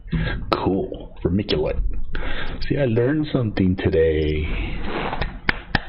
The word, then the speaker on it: vermiculite: Vermiculite. Okay. Said it right the first time. C like K. Yeah, hard C. Cool. Vermiculite.